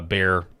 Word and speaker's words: Bexar: Um, you've got this this one back on March the 30th, Bear, meaning uh, Bear County. It says Bexar, but it's pronounced Bear.